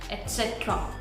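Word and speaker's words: et cetera: I have learned that this word is pronounced as etc, etc. So there is no g or z sound, there is t sound, okay? So it's etc, etc, okay?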